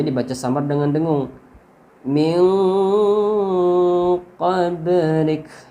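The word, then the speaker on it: قبلك: Min qablik. Ba-nya ini huruf ba mati itu qalqalah yang dibaca mantul. Yang ada di tengah-tengah berarti qalqalah sughra.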